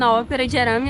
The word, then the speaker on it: Ópera de Arame: We're here now in Another tourist spot in Ópera de Arame, right, ahem, that's how you say it, it's